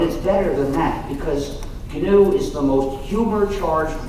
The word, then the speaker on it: GNU: not new anymore but it still is canoe and it will always be canoe there's another erroneous pronunciation